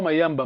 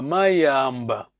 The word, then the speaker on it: Mayamba: On a perdu ça parce que il y a ceux qui disent, bon, maintenant, 90%, Mayamba, c'est pas Mayamba, Mayamba.